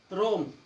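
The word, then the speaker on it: roam: Next, जब ओ के बाद ए आए, जब ओ के बाद ए आए, जब भी ओ के बाद ए आओगा तो ए साइलेंट होगा। रोर, रोस्ट, रोम, ओ के बाद ए आया हुआ है तो ए साइलेंट।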